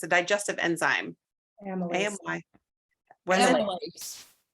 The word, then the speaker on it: amylase: Now, I don't know how to pronounce this. This first word is amylase. What is that? It's a digestive enzyme. Amylase.